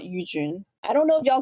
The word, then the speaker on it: Yujun: But the Jun is a really hard sound in English, so I would suggest just saying Mount Yujun.